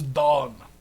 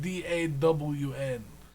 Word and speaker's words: Dawn: his name is yeah the name's don but spelt d-a-w-n d-a-w-n yeah dawn dawn like the sunrise dawn yeah i don't like